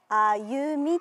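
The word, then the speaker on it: 愛夢緑: ベンチ、愛、夢、緑と書いてあゆみと読みます。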